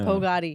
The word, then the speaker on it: Pogady: Pogady. Yeah. Yeah. Well, yeah, it's because there's a word in the English language, pagoda, and they get confused.